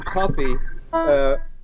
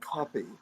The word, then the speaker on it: Cuffy: So kids that were born on Friday were often named Copy. So then, when these tunes came across the pond, you know, it was so. Even though it's spelled Cuffy, it really comes from across Africa.